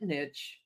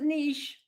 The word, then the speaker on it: niche: And while we're at it, let's talk about is it niche like itch or is it niche like kiche?